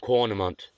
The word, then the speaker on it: Caurnamont: to spell it, but it's Caurnamont. So Carnamont. Or Cornamont. Because the first, and this is a freaking English language, like, yeah, how that's spelled and how Caulfield's spelled, you'd think it'd be Cornamont, right?